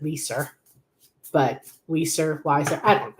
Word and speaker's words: Leiser: Although my name is spelled almost the exact same way and I pronounce it Leiser.